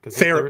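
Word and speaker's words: Theoren: Is it Darren or Theron? Theron. Well, I always said Theron. Maybe in Canada they pronounce it Darren.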